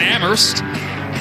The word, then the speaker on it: Amherst: fellow independent umass and amherst silent h 56 points it's been